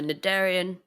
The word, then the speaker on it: cnidarian: your first word is nidarian it can be pronounced either nadarian cnidarian my Darian do you need a